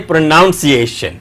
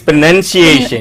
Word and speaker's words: pronunciation: Most people say pronunciation. No, see, it is pronunciation. Pronunciation. Yes. So let us learners look at this word here. Pronounce. Say it. Pronunciation. Pronunciation. So we put stress here.